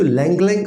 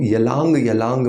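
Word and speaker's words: ylang-ylang: दोस्तों लंगलंग aroma oil अब ये जो लंगलंग अरोमा ऑयल है ना इसमें वाय जो होता है वो साइलेंट होता है क्योंकि बहुत सारे लोग इसको यलांग यलांग पढ़ने वाले हैं ऐसा नहीं है ये एक चाइनीज हर्ब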